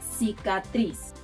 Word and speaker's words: cicatriz: This one is tricky because it has two sounds, k and s. The best example to illustrate the difference is the word cicatriz, cicatriz, cicatriz, scar. In Spain, people pronounce the soft version of letter C as th, so they'll say something like cicatriz, Now, there are words